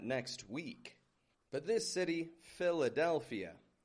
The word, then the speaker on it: Philadelphia: What makes this one tough is that it has 5 syllables. A syllable, as I've mentioned in the past, is a unit of sound. It's that combination of a consonant and a vowel. Philadelphia. Philadelphia. Philadelphia. We spell that P-H-I-L-A-D-E-L-P-H-I-A. Philadelphia. It's got 2 PHs in it. And remember, PH makes a F sound in spoken English.